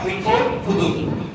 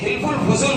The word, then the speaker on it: হিলফুল ফুদুল: হিলফুল ফুদুল। এই হিলফুল ফুজুল বলে আর কি সহজ, আরবিতে বলে হিলফুল ফুদুল বদনি, তো বাংলায় সহজ উচ্চারণে বলে হিলফুল ফুজুল।